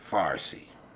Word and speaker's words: Farsi: at farsi the language okay farsi that's the way you pronounce it that's what we get